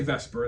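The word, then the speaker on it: VSEPR: We say Vesper. That's that's how it's pronounced.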